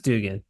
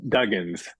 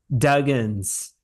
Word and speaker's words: Duggins: You're Paps Dugan. yes, sir. Is There it you go. Dugan or Dugans? Duggins. Duggins.